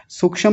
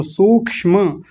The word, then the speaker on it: सूक्ष्म: सूक्ष्म नहीं सूक्ष्म। म को पूरा रखेंगे सबसे पहले तो सूक्ष्म और बड़े ऊ की मात्रा है तो बड़ा ऊ ही रखेंगे।